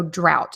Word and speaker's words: drought: So drought. So D-R-O-W, it's almost like we're spelling it with an O-W instead of an O-U-G-H, drought.